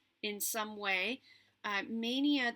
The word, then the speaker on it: Maynia: Happy May, happy Mania to everybody who's doing Mania in some way. Mania, there's a group on Facebook called Stitch Mania, and it's spelled Maynia. And if you aren't familiar